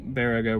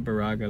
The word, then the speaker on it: Baraga: drove basically west and a little south from verago where we were which i learned is the correct pronunciation not boraga like we were saying we are just south